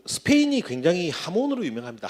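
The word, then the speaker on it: jamón: 자, 그 스페인이 굉장히 하몬으로 유명합니다. 하몬이라고 하는 게 스펠링으로 J거든요. J인데 그 발음이 하가 됩니다.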